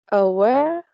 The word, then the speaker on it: aware: The fourth is aware. and the stress is in the last syllables.